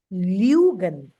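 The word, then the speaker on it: lügen: Lugan. Lugan. Lugan. Like Lyogan, like this.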